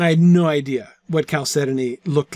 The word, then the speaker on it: chalcedony: I was pretty sure about the end part of the word because it rhymes with ebony.